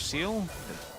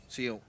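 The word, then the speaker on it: Ciel: I think it's Team Secret Wales assistant coach Seal. I think that's how you say it, C-I-E-L. Yeah, I think that's the head coach. Seal.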